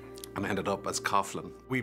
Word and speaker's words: Coughlin: Joe would say Coughlin Ben informed me that that's the way that it's pronounced here in America he's just one of